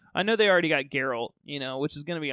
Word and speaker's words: Geralt: Like, I know they already got Geralt, which is going to be awesome.